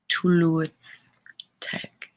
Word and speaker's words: Tylwyth Teg: Tylwyth Teg.